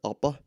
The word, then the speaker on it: Hoppe: I think it's Hans Hermann Oppe, but it's pronounced Hans. It's spelled Hans Hermann Hoppe or Hoppe.